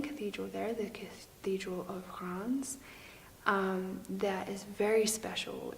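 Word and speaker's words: Reims: in France called Cron's I hope that I'm getting this right I had a lot of difficulty saying it even then but if you want to spell it it's our e IMS I think Ron's so I was visiting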